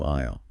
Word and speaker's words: aisle: We must move to a new aisle. Remember that word? Aisle. The walking space. Yeah. It has the silent S.